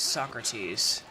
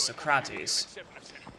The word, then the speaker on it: Socrates: The European and American pronunciation is Socrates, but the Greek pronunciation is Socrates. Weirdly enough. The stress is on the craw.